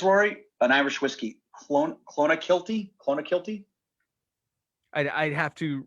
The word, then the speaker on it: Clonakilty: heard of this rory an irish whiskey clone clona kilty clonakilty i'd i'd have to read it uh